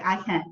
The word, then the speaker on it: AHyun: It's hard to pronounce, but maybe if you sound my name out, it isn't even that hard to pronounce. So you just need to remember, like aha moment. My name is like AHyun, so Is this easy?